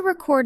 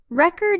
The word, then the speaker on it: record: to record a song, record is a verb, and the stress is on the second syllable. Record. But if you say, I bought a record, it is a noun, and the stress moves to the first syllable.